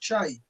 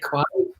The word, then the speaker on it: Kyei: It's pronounced Che, which is I get why that's unpronounced. So I get that. In my case, it's acceptable. Ridge over Jerry Kwai. I look like Kwai.